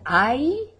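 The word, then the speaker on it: hay: or estudiantes we know our little word i h-a-y not i-i-i but h-a-y i would we say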